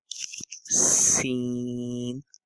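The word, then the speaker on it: س: is the next one scene same as we make a sound we just have to make a whistle scene scene scene the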